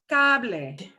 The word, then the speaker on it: cable: Oh, no such thing as a silent E, ever. So this is pronounced cable.